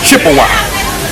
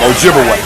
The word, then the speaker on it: Ojibwe: twice and of course they corrupted the pronunciation of those Ojibwe people to Chippewa absolutely so Chippewa and Ojibwe that's the same people wise the European Corruption of their real name Ojibwe okay so they begin